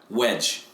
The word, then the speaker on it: Waj: It's not Waj. It's Wedge, right? Waj, W-A-J. Yeah, he's they pronounce it like Wedge.